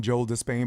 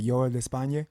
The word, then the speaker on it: Joel de España: the Americans will call him Joel de Spain, but I think I'm saying it right. Joel de España, is that correct? Yep, that's right.